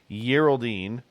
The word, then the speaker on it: Geraldine: I think she likes a soft G every now and again. Geraldine.